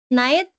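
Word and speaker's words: knight: and nobility underwent elevation so our examples night silent c before which is now silent k originally meant boy or sir but later referred to aivalus warrior.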